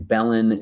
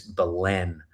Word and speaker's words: Belen: And I'm like, come see me in Belen, New Mexico. Belen, New Mexico, come out, but it's Belen. So I said the name wrong like 6 times in this promotional video.